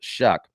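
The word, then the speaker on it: Shough: shuck that's spelled s h u g but pronounced shuck uh he received his first Power five offer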